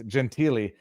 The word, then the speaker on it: Gentile: live in Montreal and it's spelled Gentile but it's Gentilly his name may have